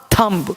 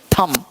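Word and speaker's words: thumb: ही इसके क्या कहा थंब इसको थंब नहीं थम अंगूठा टॉम नहीं टॉम यानी बी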